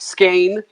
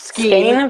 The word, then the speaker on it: skein: that it is pronounced skein not skiing yarn skein of yarn it's very important it sounds like stain but pronounced skein I